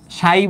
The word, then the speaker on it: psi: এইটাকে বলতেছে হচ্ছে উচ্চারণ করতে হয় এরকম, সাই বলে উচ্চারণ করতে হয় আর কি, PSI। হ্যাঁ, উচ্চারণ করতে হয় এরকম PSI বা সাই নামে উচ্চারণ করতে হয় এটাকে।